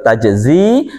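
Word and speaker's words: تجزي: Jadi bacanya tetap tajzi, aslinya tajziyu, ya, karena dia berat ya menyandang dhammah maka disukun tajzi.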